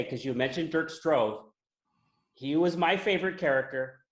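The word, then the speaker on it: Dirk Stroeve: But how do you say his name? Derek? Dirk Strove. Dirk. I really loved him.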